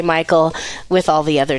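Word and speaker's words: Michale: was spelled on my birth certificate Michelle but pronounced Michael okay and so I said you know when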